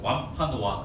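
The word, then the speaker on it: Wampanoag: 부족이 어떤 부족이면 완이 굉장히 좀 쉽지 않아요 발음하게 완파 노아 그 부족 따라서 해 보세요 완파 노아 그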